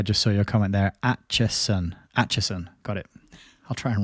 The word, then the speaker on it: Acheson: Acheson. Got it. I'll try and remember that. Why don't they just put a T in the name?